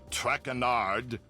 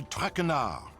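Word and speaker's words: Traquenard: name you're not eating not trackanard it is jean-michel trackenar sean what can i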